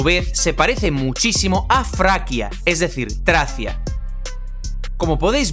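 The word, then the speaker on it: Фракия: como F por ejemplo el nombre de la región de tracia en español en ruso se pronuncia fraia es decir vemos que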